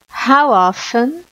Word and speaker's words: how often: What, who, where, how often. Note que eu não pronunciei o T, né? How often.